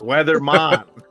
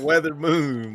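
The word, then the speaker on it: Wezaemon: say the guy's name it's weathermon not weather Moon my boy that's crazy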